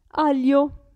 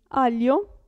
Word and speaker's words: aglio: In questo caso la G non si sente. Aglio, si legge, si pronuncia lì. Aglio.